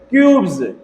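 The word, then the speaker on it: cubes: कहता है जब किसी वर्ड में BE, GE, IE, OE या Y के बाद S आए तो S का उच्चारण ज। तो इन सारे शब्दों के बाद यदि S आएगा तो इस S को हम क्या पढ़ेंगे, ज, क्या पढ़ेंगे, ज।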